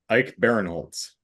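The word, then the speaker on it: Ike Barinholtz: think Ike is Ike oh it's Ike not Ian Ike Baron Holtz Baron Holtz there you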